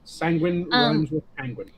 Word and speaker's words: Sanguine: probably gonna mispronounce that or not penguin that's the easiest way to remember sanguine you know that your